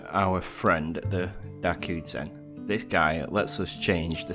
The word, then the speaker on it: ジ: ジ You'll pronounce this as G. This character is an exception in this set as it's not a Z syllable.